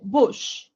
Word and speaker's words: bush: A lot of people make mistakes in this word here and they say ba, but it's u actually, right? Like book. So bush, woman, cushion, not ka, ku, cushion, right?